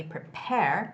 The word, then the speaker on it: prepare: The word prepare has the second syllable stress, so it's got to be prepare, prepare. The stress goes on the word A, the letter A, yourselves for the weekend rainstorms.